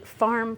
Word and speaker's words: pharm: Yeah, they're called farm parties, but it's spelled P-H-A-R-M.